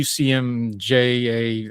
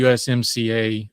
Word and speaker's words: USMCA: Donald Trump in his first term made a big deal out of the UCMJA, I always say it wrong, the USMCA trade agreement that was supposed to replace or supersede NAFTA, however you want to frame that.